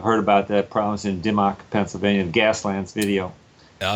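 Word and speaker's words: Dimock: How do you pronounce that? Dimmock? Yeah, that's what I understand. That's what a guy from the Sierra Club who was in one of my classes, that's the way he pronounced it. And he had worked over there, so I'm going with that pronunciation.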